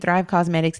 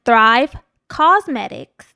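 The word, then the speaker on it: Thrive Causemetics: off listen to me it's spelled a little differently yes it's cos like a cause for a good cause that's thrive cosmetics dot com slash bravado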